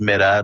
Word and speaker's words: Middagh: Uh I would say, you know, it's Mida, not Ma, not Maida, not not you know, whatever.